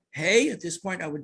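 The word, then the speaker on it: ה: I want everybody, the letter Hey is pronounced, it's an exhalation, right? Breathing out.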